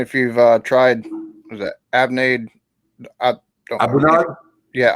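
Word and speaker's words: A'bunadh: Now, so you got a question here asking if you've tried, was that Abnade? Abunad? Yeah, Abunad. There you go. Abelour. I got to pronounce it correctly.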